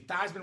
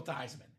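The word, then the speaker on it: Theismann: So it gonna be Thyman for the Heisman. Changed the name. Didn't quite win, but the name stuck forever. He was forever Joel Tyman.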